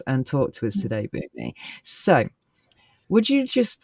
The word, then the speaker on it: Bomi: My name again is Bomi.